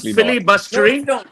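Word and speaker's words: filibustering: It's called Philly bustering. It's called Philly bustering. But you won't be able to spell that word. It's called Philly bustering. And Philly is not spelled f i l l y can I complete I'll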